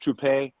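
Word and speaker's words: Trouppe: He originally, his name was originally pronounced Troupe, and he later on changed the pronunciation of it.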